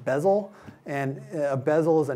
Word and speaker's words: BZL: So it's called BZL, or pronounced bezel.